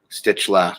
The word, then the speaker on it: Stützle: Stützle.